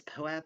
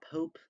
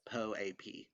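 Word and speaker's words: POAP: i have been corrected in dms it is poep it is not pope i apologize to patricio and the other po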